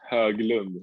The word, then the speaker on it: Höglund: Because it's my last name is Höglund, like a O with two dots over, and then Höglund, like with a U.